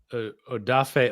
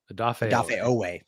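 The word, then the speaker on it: Odafe: I always say is I always say his name wrong. Um Odaf Ooway. Adafay, thank you.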